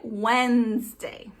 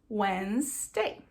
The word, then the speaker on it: Wednesday: Se escreve Wednesday, mas se pronuncia Wednesday. Então você não pronuncia o D e esse nes você não fala ele completo. É como se fosse Wednesday, tá?